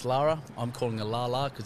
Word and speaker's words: Laura: She's spelt Laura, pronounced Lara.